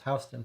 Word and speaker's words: Houston: zach and i lived houston street was absolutely housed them but different places pronounce different spellings of this houston but it was housed in for us um first interview with